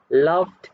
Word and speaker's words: loved: the video welcome back so the answer for the second one is loved and the answer is one syllable one just one okay we are then